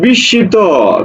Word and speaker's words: বিস্মিত: দেখো পাঁচ সাত বলছে বিস্মিত বিস্মিত শব্দের উচ্চারণ বিস্মিত তাহলে এটার উচ্চারণ কি হবে দেখো তো দেখো বি সি শি ত দেখো তো এই যে মনে